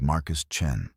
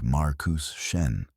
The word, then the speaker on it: Marcus Chen: And the human's name was Marcus Chen, which I learned to pronounce after only 17 attempts and one minor diplomatic incident involving my pronouncing it as Marcus Shen, and him laughing so